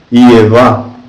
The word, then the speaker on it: Ievá: Eva tem um nome de 3 letras, mas o Adão primitivo é expresso pela letra Iod, sozinha, de modo que Jeová deveria pronunciar-se Ievá.